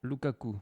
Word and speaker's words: Lukaku: Lukaku.